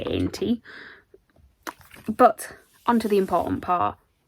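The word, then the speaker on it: Aentee: And the pin set is designed by, I think it's pronounced Aentie. It's A-E-N-T-E-E. I'm going to say Aentie.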